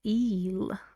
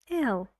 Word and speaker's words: ill: he is sick okay Kim's l wouldn't I say Kim's eel eel that would be funny why this is Kim and he is ill whoa whoa look this is what we call eel a big difference in meaning right so Kim's not EO don't say that Kim's just ill so be careful the